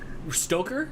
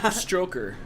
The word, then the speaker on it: Stoker: That might be the first time you actually said it right. Stoker? Yeah. Stroker. That's usually what you say.